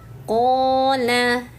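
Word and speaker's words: قال: Nah, ini qof-nya panjangkan dulu ya. Panjangnya dua harakat. Dan hati-hati nih ketika terputus di sini mesti sambung ke bawahnya. Terkadang suka agak panjang nih Bunda-bunda bacanya. Qa fakh. Nah, jangan ya. Qa fakh qola. Ah, pendek ya. Pastikan lamnya pendek.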